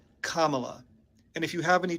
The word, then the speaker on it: Kamala: house she will protect democracy okay and it's pronounced Kamala Kamala and if you have any trouble with that